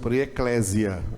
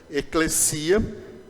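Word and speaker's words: ἐκκλησία: você já ouviram pessoas Eclésia Eclésia é uma pronúncia errada tá a pronúncia correta eclecia mas a gente está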